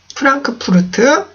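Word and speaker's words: Frankfurt: 프랑크푸르트라고 하는데 프랑크푸르트 우리나라에는 F 발음이 없기 때문에 그냥 프랑크푸르트 이러는데 F죠? F 발음 해주셔야 돼요. 프랑크푸르트 이라고 하셔야 되고요.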